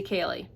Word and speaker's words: Kali: My first born, her name is spelled just like that, except we don't say Kie, we say Kaye.